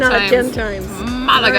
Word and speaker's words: Málaga: Malaga.